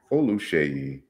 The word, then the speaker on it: Oluseyi: so uh because i i hear people uh pronounce it without the sh that's wrong with this song i